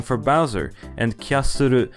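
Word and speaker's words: キャッスル: Koopa is the Japanese name for Bowser, and Kyasuru is how you would say the English word castle in Japanese, so both languages use the same name.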